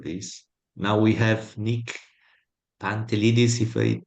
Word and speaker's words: Pantelidis: Now we have Nick Pantelidis, if I say it right.